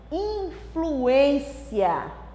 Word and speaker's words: influência: Por um acento que nós tiramos, a classificação gramatical mudou. De substantivo passou a ser verbo. Leia. Influência. Grande influência. Influencia. Porque eu tirei o acento, a sílaba tônica mudou, né? Veio para o final.